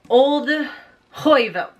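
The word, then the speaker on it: Olde Heuvelt: Man, I'm gonna be talking about Hex by Thomas Oldhoyvelt.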